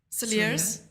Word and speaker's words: Cilliers: And Clifton School versus Sarl Cilliers. Cillier. High the School. S is silent.